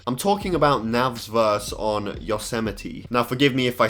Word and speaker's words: Yosemite: seeing it on Astroworld I genuinely thought it was pronounced yos might but I've watched reviews and stuff and they say Yosemite Yosemite I still might be